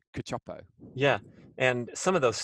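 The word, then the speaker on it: Cacioppo: butchering his surname but i believe it's pronounced cachopo yeah and some of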